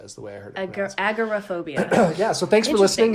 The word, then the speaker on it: agoraphobia: on and we're going to be talking about Agra phobia which overall phobia always started called agoraphobia but